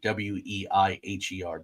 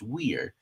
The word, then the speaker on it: Weiher: Ted's is a little difficult. I went out and made sure to get that right. Weiher, but it's Weir.